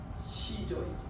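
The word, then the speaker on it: Caesar: 카이사르를 영어식으로 발음하면 시저이죠. 시조.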